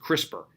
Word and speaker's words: CRISPR: pollen dramatic repeats and it's pronounced crispr and the good news